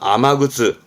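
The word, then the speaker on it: 雨靴: 신발인 거죠 발음은 아마트 조심할 거 아메가 아니라 아마로 바뀝니다 아마즈 아마즈 흔히 뭐 그렇죠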